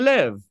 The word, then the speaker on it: live: cũng ok rồi nà lớp Where do you live where good ở đây mình sẽ trả lời